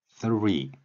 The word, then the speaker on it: three: 3 우리말 리을과 영어의 번데기 발음이라고도 하는데요. 3의 혀를 무는 소리가 동시에 나는 것입니다. 거의 비슷한 시간에.